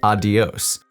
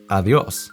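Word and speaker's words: adiós: that tell me to pronounce it like adios with a D sound. And instead, I have to activate all of the Spanish rules that I'm now learning, which says that the D between two vowels has more of a TH sound.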